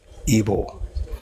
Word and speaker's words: Igbo: No, it is Igbo. Like, it is pronounced Igbo. It's actually Igbo, right?